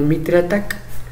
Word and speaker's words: MITRE ATT&CK: tiene esa doble función es un acrónimo y si tiene la intención de que parezca que dice ataque como ataque en inglés sea si tienes intención o sea no tengas miedo de pronunciando como mitre ataca porque si he escuchado